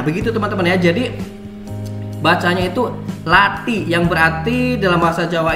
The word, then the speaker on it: Lathi: itu seperti itu Melati jadi ketika di huruf t itu lidah teman-teman ditekan ke langit-langit atas jadi latih hebat kayak apa namanya